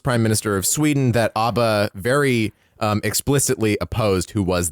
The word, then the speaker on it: ABBA: Tim Rice pronounces it ABBA, though. Yeah, Tim Rice is fucking wrong all the time.